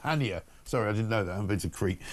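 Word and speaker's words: Chania: I'm told also that Channia in Cree is pronounced Hania.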